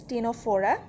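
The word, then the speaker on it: Ctenophora: the third one is tenophora C is silent here then platty helmets then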